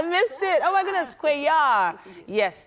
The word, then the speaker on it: Cuellar: Oh my goodness, Cuellar. Yes, the L is silent. So Cuellar, she's the founder of